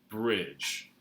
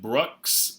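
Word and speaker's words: Breaux: it got the name Bridge. So don't pronounce it Brooks or Brooks or Briox or anything else. Bridge.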